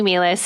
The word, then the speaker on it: Meehlies: out my full name um which is melis and meis is spelled funny so just look it up on